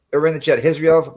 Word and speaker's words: Khizriev: Yeah, it's gonna be with the accent, but it's Khizriev. Khizriev. All right, over in the chat. Khizriev 1, Muradov 2.